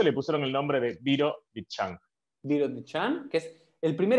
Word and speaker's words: Birobidzhan: a contar un poco, que es, siempre lo pronuncio mal, ¿cómo es? ¿Birodishan? No. Virovitchan.